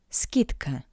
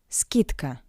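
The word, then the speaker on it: скидка: price next word discount skitka SK skitka the W consonant D in front of the voiceless consonant C sounds like a spirit consonant t t d skitka skitka s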